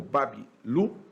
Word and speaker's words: Babilu: a cidade de Babilônia, também conhecida como Babilu, a pronúncia, o Babilu, que significa portão de deuses em acadiano.